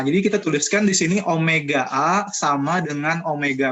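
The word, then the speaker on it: ω: Jadi kita sudah dapat omega, kemudian tadi kan kita punya rumus tuh di halaman 41 tadi ya, bahwa omega itu kayak W ya, tapi membacanya omega kalian.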